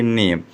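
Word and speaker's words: name: लोग का प देंगे नेम यहां पर ई का क्या हो जाएगा यहां पर ई का लोप हो जाएगा यानी इसका उच्चारण नहीं किया जाएगा जैसे यहां पर ए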